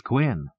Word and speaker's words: Quinn: Quinn? Yes, Quinn. Q U I N. I see. Yes. Yes, I see. Quinn. H. Yes. Very interesting. Quinn, a most resonant word rhymes with twin, does it not?